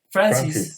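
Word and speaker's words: Frances: en 1993 ya que este Francisca digamos francés Francis sí Francis ese era el pronunciación adecuada tiene razón Francis nace y cambia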